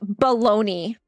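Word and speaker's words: bologna: It's it's the name of like a deli meat and it's pronounced bologoney.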